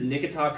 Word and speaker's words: Nikita: This is Nikita Kucherov. Not bad at all. Nikita Kucherov. Nikita, I was pronouncing like Wichita.